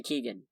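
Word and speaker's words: Keoghan: things they could have picked moving on barry kyogen kyogen is that he pronounced it that's how i would pronounce it by looking at it huh barry keegan got it has been arrested and then released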